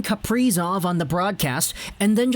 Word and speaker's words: Kaprizov: And I said that mostly because I was thinking of Capri Sun, like, you know, the drink.